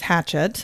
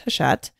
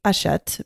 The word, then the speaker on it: Hachette: You might have seen the name before and thought it was Hatchet, but I think it's a French company. It's pronounced Hachette.